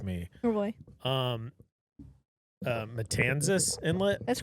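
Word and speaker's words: Matanzas Inlet: Um, uh, Matanzis Inlet.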